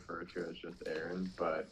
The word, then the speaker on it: Arran: Um but like So, you you pronounce the brand name Aaron Studios, right? Aaron? Correct.